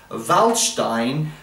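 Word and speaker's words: Waldstein: trills I suggest you listen to uh Beethoven's valstein um spelled w l d it's like walstein but it's pronouncing valin w the s i n the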